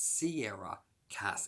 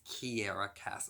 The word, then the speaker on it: Kiera Cass: the Selection series by Kiera Cass. Now, I do believe I said in my April TBR that her name is Sierra Cass. It's not. It's Kiera Cass.